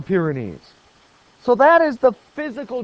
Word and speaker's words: Pyrenees: how to say it I don't care if you pronounce it wrong as long as you begin to learn the correct pronunciation they're called the Pyrenees the Pyrenees so that is the